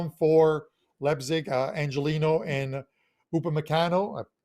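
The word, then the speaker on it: Upamecano: a couple of them for lebzig angelino and upon meccano i pronounced that one right on first shot are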